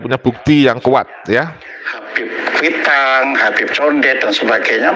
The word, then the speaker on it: Habib: Nah, Habib ini secara bahasa itu adalah bahasa Arab yang sebenarnya membacanya kan bukan Habib tapi Habib ya, Habib ya, dan itu memiliki arti yang dikasihi atau yang dicintai.